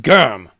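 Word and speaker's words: GRM: It's pronounced Germ, Thor said.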